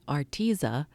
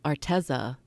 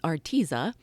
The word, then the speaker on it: Arteza: I've learned how to pronounce it correctly, Arteza. I think I've said Arteza for forever, but it's Arteza.